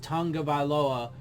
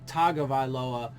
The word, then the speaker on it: Tagovailoa: So I know it's pronounced Tagovailoa, and I try and consciously think about that, but I often say Tagovailoa because it's spelled Tago, not Tunga, right?